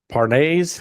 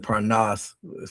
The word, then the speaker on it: Parnas: through them, and uh this uh Parnes, I guess, is how you say his last name. Pronounce it Parnas from Carolina.